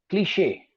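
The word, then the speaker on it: cliché: Cliche. The pronunciation is cliche.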